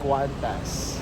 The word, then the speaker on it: Qantas: We're now here in the departure area of Terminal 1 and our plane is Qantas. That's how you pronounce it- Qantas.